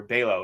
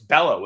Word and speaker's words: Bello: mispronounce name last week I forget if I said Bellow or bow it's Bellow isn't it I'm going Bellow and I'm going absolute